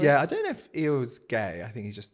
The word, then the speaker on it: Eeyore: What's the G? Eorg. Who's Eorg? Is that the name? No. Eeyore. Eeyore. Eeyore. Eorg. I thought it was EO. How'd you spell it? Eeyore. Eeyore. No. There's no G.